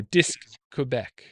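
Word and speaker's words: Disque Québec: Oh, Disc Quebec. Yeah, because disc in French is DISQUE, and so they use the QUE and just run right into Quebec. So Disc Quebec.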